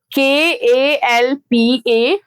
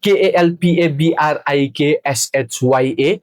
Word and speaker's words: Kalpabriksha: So it goes like Kalpabriksha. Kalpabriksha. Am I right? So everyone, please, this is not Kalpabrikshya.